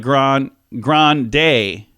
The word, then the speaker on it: Ariana Grande: the list Ariana Grande she says no it's more like grand grand day okay sounds the same